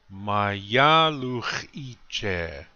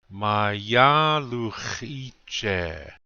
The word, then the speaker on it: Mayaluchiche: And the next word, Mayaluchiche. Notice the accent is on the second syllable. Listen very carefully to the way I say it. Mayaluchiche.